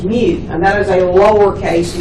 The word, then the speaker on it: mu: letter m and the Greek letter M is pronounced mu and that is a lowercase me now here's